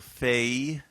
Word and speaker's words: Fahie: pronouncing your name right it's like a Irish thing it is an Irish thing uh one syllable Fay sometimes with a little dip thong at the end a little Fay but yeah but that